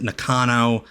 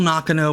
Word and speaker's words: Nakano: I know Americans normally pronounce it Nakano, but I believe that's the actual pronunciation.